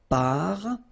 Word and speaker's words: parfum: So it's nasal and it's un. So it really goes in your nose. You don't pronounce the M at all. Un. Okay? So parfum.